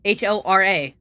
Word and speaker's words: hora: You just don't pronounce H's in Spanish, so I assume.